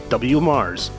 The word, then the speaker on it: WMARSS: They go to Mars. No, not that Mars. This Mars. The Waco Metropolitan Area Regional Sewerage System, or WMARSS, pronounced WMARSS.